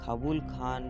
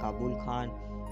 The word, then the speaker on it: Khabul Khan: काबुल खान, जिसका अलग प्रोनाउंसिएशन यानी कि उच्चारण किया जाता है काबुल खान, काबुल खान, कबूल खान और काबुल खान, काबुल खान चंगेज़ खान के ग्रेट ग्रैंडफादर हुआ करते थे।